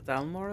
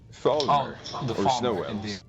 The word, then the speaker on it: Falmer: And the first 500 companions, did you say they drove the Delmore out of Skyrim? Falmer.